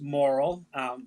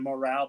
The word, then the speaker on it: Morrill: It's actually pronounced Morrill. Morrill. There's a French pronunciation of Morale, but I go by Morrill, yes.